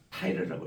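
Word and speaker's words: Tyre: T-Y-R-E 타이르라고 읽어요. 이거를 우리 개혁성에는 두로라고 나와서 우리 개념이 잘 없는데 타이르라고 읽어야 됩니다.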